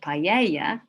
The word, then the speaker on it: paella: fed on acorns um paella or maybe you'd like to call it paella in the spanish pronunciation which is a rice